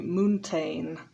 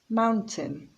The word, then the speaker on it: mountain: t is silent castle mountain people often say moontain but the the ending is pronounced tin mountain interested notice that there